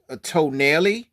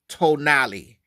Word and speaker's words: Tonale: in case in case you don't know the pronunciation of this car some people might think it says a toell or to but it's not it's actually tonali tonali tonali or if you want to do